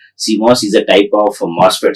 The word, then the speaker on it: CMOS: uh metal oxide semicond device which is generally pronounced as seos seos is a type of moset so in the